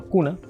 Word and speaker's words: Guna: I say for example "Guna" is not "K" nor is it "G". It's Guna.